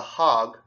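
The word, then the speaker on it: The Hague: or hog and the hog I'll say hog because it's spelled kind of like Prague you don't say prou you say Prague or pragu hog yeah the hog and he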